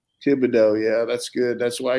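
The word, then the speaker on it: Thibodeaux: I can't pronounce his name. Kayvon Thibodeau. Thibodeau, yeah, that's good.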